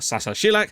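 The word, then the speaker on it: Saša Šilak: Sasha Šilak is pronounced Sasa Šilak, and Šilak means spike in Serbian.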